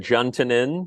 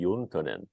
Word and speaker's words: Juntunen: uh you you said Jin uh lots of Finnish words get you know Americanized uh my last name pronounced in The Finnish would be yonin and you though you